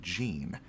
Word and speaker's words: Gene: A bit of a random nugget to mention, but my name is pronounced Gene, like the pants.